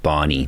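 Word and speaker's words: BANI: there's another word now I think it's pronounced Barney b-a-n-i brittle anxious non-linear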